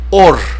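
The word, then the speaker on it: אור: nos va a conducir la palabra luz mis amados amigos y hermanos en el hebreo se pronuncia como ere org org eso es como cómo se pronuncia la palabra en hebreo luz y mire porque tiene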